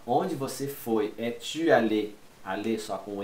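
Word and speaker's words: allée: Allé, allé, tem um Ezinho a mais, mas fica quase a mesma coisa.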